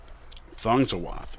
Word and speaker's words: Thongswath: Thongswath is how you pronounce it.